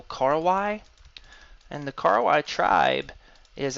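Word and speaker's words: Korowai: They're pronounced Kor Y, so Karwai, and the Karwai tribe is actually quite famous, and you can even take tours to see them in action today.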